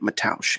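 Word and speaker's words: Mateusz: faziv and matausch gamra that's how you say it matosh in case you didn't know Johnny I told you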